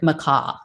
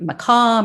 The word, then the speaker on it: McCaughey: next up is patrick mccaw um macau murakai mccoy i've heard it pronounced multiple ways it's spelled m-c-c-a-u-g-h-e-y i'm going to call him mccoy because that's what i've heard most um so mccoy was